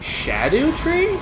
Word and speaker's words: Scadutree: I was watching GDQ, and apparently it's pronounced Shadow Tree?